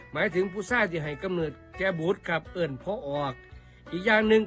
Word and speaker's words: พ่อออก: ว่า พ่อ ออก ครับ พ่อ ออก เขียน พ่อ พาน แม่ เอก ออ อ่าง ออ อ่าง อ่าง ก ไก่ ครับ ร่วม กัน แล้ว อ่าน ว่า พ่อ ออก พ่อ ออก มี อยู่